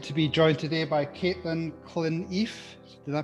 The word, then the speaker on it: Clineff: I am really excited to be joined today by Clineff. Did I pronounce that correctly?